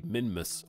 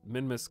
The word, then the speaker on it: Minmus: But there's a thruster under here, and then we have some fuel, and this is going to push us into a Minmus orbit.